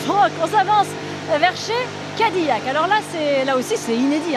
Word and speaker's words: Cadillac: Cadillac, c'est bien français, hein, le nom, on prononce à la française parce que c'est un petit gars qui vient de France, qui vient à côté